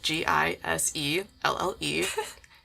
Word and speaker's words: Giselle: hard time pronouncing it, I'm like, Giselle, like Tom Brady's wife, Giselle. You guys never heard of her? Yeah. Giselle. I had a teacher call me Michelle for a year.